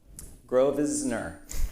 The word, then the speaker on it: Grosvenor: Grosvenor. How do you actually say your name? You said it right. You don't say the S. Okay. The silent S.